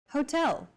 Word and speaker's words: hotel: instead of subway next Hotel see that in Portuguese H is the first letter is always silent except for specific foreign loan words tell for a specific